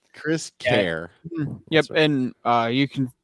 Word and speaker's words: Kris Kehr: you spell my name it sounds like Chris Kerr yeah it's been pronounced that way many times care yeah Chris care yep and uh you